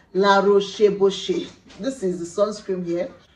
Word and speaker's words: La Roche: the second one is la rohoshi it is recommended by dermatologists as the name implies you can obviously tell it's a french word i tried pronouncing it let me try again la roche this is the sunscreen